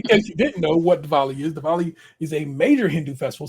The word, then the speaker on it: Diwali: Dylan is making the Diwali. They do Diwali. They say like that W with a V. All I know it is with a W. Diwali.